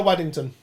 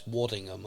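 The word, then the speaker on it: Waddingham: Sat the other side of me is Hannah Waddington. Uh from um Ted Lasso, Game of Thrones. Uh it's Wadingham, I think. Wadingham. That's it. I always get her name wrong.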